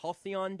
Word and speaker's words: halcyon: Halcyon days. Halcyon days. It's a great word. It's a great word. I always want to say it's like the Hollycon.